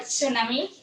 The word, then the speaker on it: tsunami: I don't remember these symbols and the Latin alphabet, but in the word tsunami, the T, right? The T is silent.